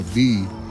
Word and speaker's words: Vi: to it here in Polynesia, which is a V tree. So that's spelled V-I.